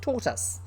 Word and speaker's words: tortoise: taught us okay so it's not that english pronunciation it's tautus i'm going to read